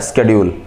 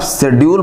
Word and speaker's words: schedule: US इसको शेड्यूल नहीं बोलता है, US के अकॉर्डिंग ये होता है स्केड्यूल, स्केड्यूल। तो अगर आप शेड्यूल बनाएंगे तो ये बनेगा, स्केड्यूल बनाएंगे तो ये बनेगा। अंतर आया, लिखा तो एक ही है ना, स्पेलिंग एक है, आउटलाइन दो गई। क्यों? क्योंकि ये UK के अकॉर्डिंग है और ये US इंग्लिश के अकॉर्डिंग है।